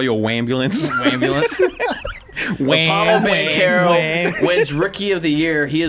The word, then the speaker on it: Banchero: That's not how you pronounced his name before. Paulo Banchero.